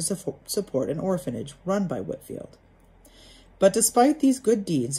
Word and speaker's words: Whitefield: friends with the evangelist george whitefield he whitfield excuse me that's george whitfield on franklin knew of